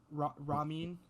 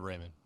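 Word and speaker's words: Raimann: So I actually have them going with, I'm going to pronounce this so wrong, Bernard Ramin. Bernard Raymond.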